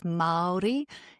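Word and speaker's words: Māori: So uh so the Maldi um language so it's Maldi is how it's pronounced and so the R is a like a D sound.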